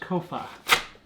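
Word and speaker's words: Copha: Amy said it's pronounced Kofa.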